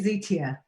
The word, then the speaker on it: Zitia: It's actually Zitia. That's how you pronounce my name, not Zita.